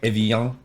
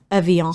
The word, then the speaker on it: Evian: I don't think we're saying it right. I think Evian. Yeah, it's probably Evian. Evian. So the N is gone.